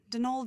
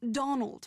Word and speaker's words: Donal: Not Donald, mind you. There's no D at the end, so it's pronounced Donal. That's the way you're supposed to spell it, which is to say that's the way the Irish spell it.